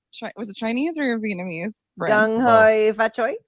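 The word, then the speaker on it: 恭喜發財: Gung hoi fa choi. Gung hei fa choi.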